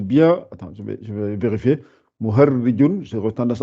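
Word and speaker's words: مهرّج: C'est avec un ra avec un shadda et un trait en bas.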